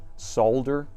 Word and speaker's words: solder: Maybe, maybe AI can pronounce solder. If you just spelled it as S-A-W-D-E-R, it might be better. Solder.